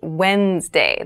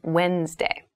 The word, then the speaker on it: Wednesday: mind this is pronounced wednesday there's a d there but we don't say wednesday we say wednesday wednesday the 18th wednesday